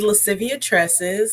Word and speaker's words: Lascivia: very beautiful name and I just wanted to pronounce it correctly is Latin um it is lascivia Latin for playfulness and sultriness which I feel